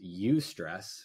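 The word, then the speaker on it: eustress: stress into two categories there's UST stress which is spelled EU stress which means good stress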